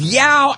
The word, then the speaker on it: Yao: Now I got cow rhyming with Yao.